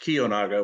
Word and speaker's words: Kiyonaga: Just a point of clarity, the name is pronounced Kiyonaga, which actually means everlastingly pure in Japanese.